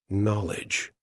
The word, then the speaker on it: knowledge: the way okay next knowledge so many letters dot dot dots so many useless letters in terms of our pronunciation right let's see what